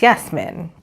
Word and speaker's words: Yasmin: And my mom's name, we pronounce her name as Yasmin.